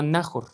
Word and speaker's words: Nahor: Y vivió Nahor, espero que se pronuncie Nahor o Nahor. Voy a decirle Nahor porque así es como creo que se pronuncia.